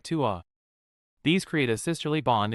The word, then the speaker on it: ตัว: เธอ ตัว Thu sounds like ta and tua sounds like tua.